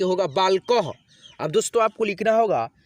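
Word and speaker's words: बालकः: लोग लिखते हैं और उस अक्षर में आधा ह का यानी किसी भी अक्षर में यानी कि आधा ह का जब उच्चारण आता है ना, तब हम लोग अह की मात्रा को लगाते हैं।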